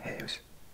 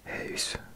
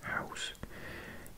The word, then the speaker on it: huis: Huis. Does that sound better? I think I used to pronounce it house. Huis.